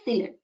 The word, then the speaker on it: silane: And see, you can find some similarity with the, if we pronounce methane, it is methyl, it is silane. That means similar type, it sounds similar. So methane is CH4 Just replace carbon with silicon.